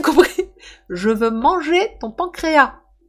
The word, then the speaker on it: pancréas: ton pancréas » Ton pancréas, je pense qu'on ne prononce pas le S. Il m'a regardé un peu l'air « Oui, pardon, j'ai pas bien compris. Je veux manger ton pancréas.